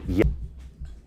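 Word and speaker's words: llamas: The double L sounds like Y in a sentence. So this word right here, L L A M A S is pronounced Yamas.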